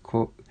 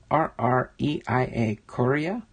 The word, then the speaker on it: Correa: Correa. Correa. Almost sounds like Kevin Correa. That's probably how you say it, like you say Korea, the country, with the Padres.